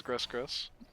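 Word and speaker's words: Gris-Gris: That's how it's pronounced, is Gris Gris.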